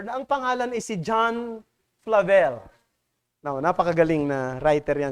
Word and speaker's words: Flavel: Ang iba ang basa ay Flavel, pero ang tamang bigkas ay Flavel.